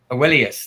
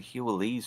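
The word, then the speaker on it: Heweliusz: Helius. Awellius. That's it. Oh, it's not that difficult to pronounce. I just can't remember. That's how you pronounce it. I was saying Hules for some reason.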